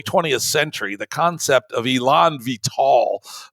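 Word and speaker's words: élan vital: century the concept of Elon vital that's how you pronounce it was still a part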